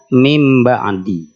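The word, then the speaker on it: مِنْ بَعْدِ: mim ba'di tadi membacanya mim ba'di mim ba'di nah menghilangkan suara nunnya sudah betul nunnya diganti dengan mim Tapi tinggal ditahan dua harakat didengungkan mim ba'di yang disebut dengan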